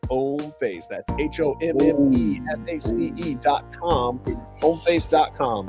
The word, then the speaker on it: Hommeface: Yes, the H is silent. Homeface.